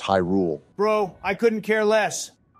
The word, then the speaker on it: Hyrule: what could be down here Zelda princess of hule it's actually pronounced Hyrule bro I couldn't care less let's go we